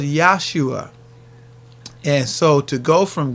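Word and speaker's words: Yeshua: Now, you wouldn't pronounce it like Jesus like that. It would be closer to, you would probably say it in Aramaic, Yahshua.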